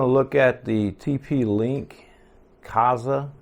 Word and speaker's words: Kasa: look at the tp-link kaza i think it's kaza i've never really known how to pronounce this um i haven't ever heard anybody say it but i say kaza this is the spot